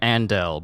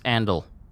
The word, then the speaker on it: Andal: I keep pronouncing his name Andel, but it's Andal. It's just Andal.